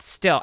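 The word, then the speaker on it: styll: still style yeah s-t-y i don't know it's pronounced still s-t-y-l-l yeah s-t-y-l-l no i don't know um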